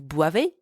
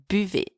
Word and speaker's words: buvez: It's not vous boivez, it's vous buvez.